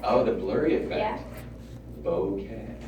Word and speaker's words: bokeh: Bokeh. Say it again. Bokeh. It's pronounced like, well, everybody says it in kind of a different way.